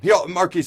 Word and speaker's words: Markese: All right, Markese also had the only rushing touchdown of the day versus Illinois with the S is silent.